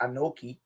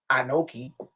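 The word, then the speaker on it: אנכי: of that first word it's already pronounced anoki anoki huh move the vowel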